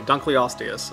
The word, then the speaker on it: Dunkleosteus: foot long dunk Leos dunkley osteus okay Dunkleosteus I got I mispronounced It dunkley australius Whatever the